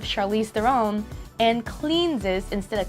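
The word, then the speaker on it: Charlize Theron: some words for example st. Charlie's their own instead of charlize their own and clean this instead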